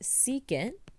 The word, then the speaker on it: secant: We have SEC, which is pronounced secant.